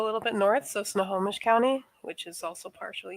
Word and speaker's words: Snohomish: um outside so a little bit north so snohomish county which is also partially eastern washington as well what county uh snohomish how do i spell that s-n-o h-o-m-i-s-h i